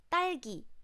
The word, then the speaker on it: 딸기: And when this 기억 sound is middle of the syllable or not at the beginning of the word, then it sounds more like G. 딸기, 딸기, 딸기, strawberry.